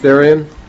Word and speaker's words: Thirion: Thirion. That's the way you pronounce it.